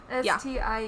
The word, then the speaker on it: Steinke: Yeah, it's Steinke. Sorry, I was reading that without looking, which was dumb because I have the book right in front of me. Stinky. Yeah, that's actually how it's spelled, by the way. It's stinky.